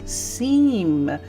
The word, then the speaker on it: Cimes: Agita and Plum also do Minecraft and Minecolonies, and it's pronounced Cimes.